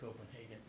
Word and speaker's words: Copenhagen: Of course, in Danish, it's Copenhagen, but in English, do we say Copenhagen or Copenhagen? And the answer is Hagen. Why? because the Germans say Hagen and the Danes are, have some problems with the Germans. Especially during World War II, where they were occupied. Okay, so if you can, when you pronounce the city's name, say Copenhagen.